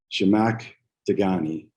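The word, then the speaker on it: Zhamak Dehghani: uh i thank you the way you say her name is uh jamaic dagani and uh shamack is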